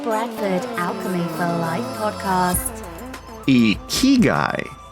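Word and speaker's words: ikigai: Alchemy for Life podcast a key guy it's pronounced e key guy well hey there welcome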